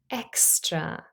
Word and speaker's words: extra: able to hear it the letter X is representing Ed by two sounds not just one the sound C aive and the sound s artive now we know that